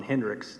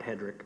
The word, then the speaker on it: Hendricks: he did it was Ron Hendricks Ron Hendricks not not Hedrick but Mr Hendricks hired me excuse me